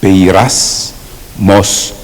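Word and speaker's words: πειρασμός: Alors, Pasmos, ça s'écrit comme ça se prononce. P E I R A S Pays race. Mos m O S Pays race mos.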